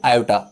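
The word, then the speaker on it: iota: आ गया I mean आयोटा। आई मत बोलना, आयोटा बोलना थोड़ा टाइम लगता है इसलिए आई बोल दो, कोई दिक्कत नहीं, लेकिन इसकी जो रियल प्रोनाउंसिएशन है वो क्या होती है, आयोटा।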